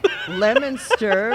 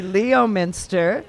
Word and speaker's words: Leominster: then we have Leominster, which should be Leominster, right? I mean, really, Leominster.